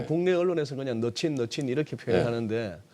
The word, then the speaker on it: Mnuchin: M은 안 읽어요? 거의 뭐 묵음처럼 처리되더라고요. 그래서 우리 예. 국내 언론에서 그냥 너친 이렇게 표현하는데 이 가운데 있는 사람입니다.